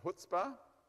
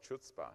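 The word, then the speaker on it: Chutzpah: I was calling it chutzpa but it's actually hootspa okay I don't know why the C is not they should have just deleted the C and then we'd all pronounce it right okay anyway selenium and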